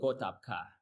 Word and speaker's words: Gotabgaa: So usually it's called Gotapka. Okay, can you spell that for me?